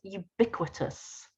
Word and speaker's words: ubiquitous: what the meaning of this word is it's pronounced ubiquitous can any of you guess the meaning from